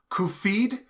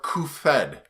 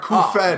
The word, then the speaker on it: Cuphead: Is it pronounced Cuphead or Cuphead? It is the second. The second, all right, Cuphead. Oh, all right, see ya. All right, no. No. It's the more French. Well, it's more coupe.